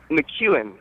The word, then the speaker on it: McKeown: we need to take a break correct my pronunciation of your last name before we come back what is your last name um McEwan oh I had it right I think I